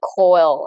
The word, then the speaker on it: koel: I once took a photo of a Asian female spotted koel. I don't know how to pronounce it.